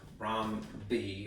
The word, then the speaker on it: rhombi: Rhombi, or I'd hate to say this because it doesn't sound like correct. It's not correct Latin, I believe. All right, rhombuses. All right, I believe it is pronounced rhombi.